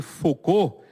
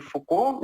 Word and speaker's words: Foucault: Que o físico ele era francês, então eu não sei francês, mas acredito que a pronúncia deve ser Foucault mesmo, né?